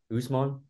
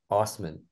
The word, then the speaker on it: Usman: hot with Trey Green so I've been told Abu pronounces his name wrong actually so it's Abu what last name does he how's he pronounce it Usman I I heard Usman on the broadcast last night but I mean that broadcast was suspect though like pronounciation according to my buddy Ahmad shout out Ahmad would be Abu Osman that's the someone should